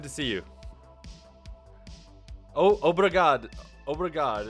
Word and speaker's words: obrigado: Obrigado. Is that how you say it? Obrigado, yeah, that's right.